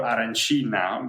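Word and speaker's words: arancina: It's the street food, particularly the aranchino or aranchina because it depends on which part of Sicily you're from.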